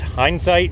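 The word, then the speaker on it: Hyndsight: uh youtube channel is hindsight engineering and it's not spelled like regular hindsight we spun it around a little bit it's h y n d white hindsight engineering just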